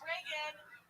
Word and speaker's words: Regan: Hey, it's Reagan. It's spelled like Regan because my mom named me after what she's spelled it wrong.